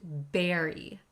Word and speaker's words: bury: The first word looks like bur, but it's pronounced berry.